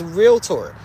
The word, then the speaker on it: realtor: real well how do you say realtor it's realtor and a realtor is someone I'm a realtor